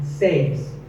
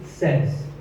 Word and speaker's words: says: Word number 2 is says. This word is commonly mispronounced by people learning English as says. But remember, I say, you say, but he or she says.